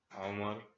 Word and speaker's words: Omar: My name is Omar, but it's like pronounced Omar in Arabic.